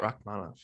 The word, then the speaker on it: Rakhmonov: Is that how you pronounce it? Yeah, Shavkat Rakhmonov.